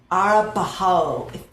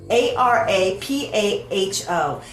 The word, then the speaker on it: Arapaho: Park, I'm gonna butcher this the way it's pronounced, was Arapaho. If you know how to pronounce it, I would love if you like left me a message and say this is how you pronounce it. But Arapaho.